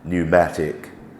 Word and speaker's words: pneumatic: of layouts for example when p and N come together um we thinking in terms of pneumatic pneumonia so no sound from the p u but it's typical